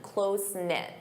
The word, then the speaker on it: close-knit: Closen-knit. Notice that pronunciation, close-knit.